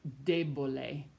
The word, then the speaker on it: debole: Like debole, the stress falls on the first syllable instead of the second to last syllable.